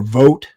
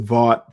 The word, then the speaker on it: Vought: Yeah, Vought or Vote. I pronounce it Vought. People pronounce his name differently.